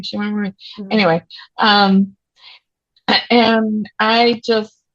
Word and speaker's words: Shemar Moore: Shemar Moore.